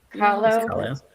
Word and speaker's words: Kahlo: Kahlo.